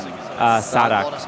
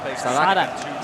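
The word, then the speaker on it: Sadhak: How do you pronounce this guy's name? Sadak. Sadak.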